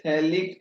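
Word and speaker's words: phthalic: बोलते हैं इसको ए फैलिक एसिड शैली कैसे लिखते हैं इसमें इसे साइलेंट हैं है लिक्विड ऐसा लिख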